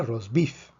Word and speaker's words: rosbif: Esta palabra se pronuncia rosbif. Vemos que es una palabra aguda, lleva la fuerza en la última sílaba porque termina en consonante que no es ni N ni S.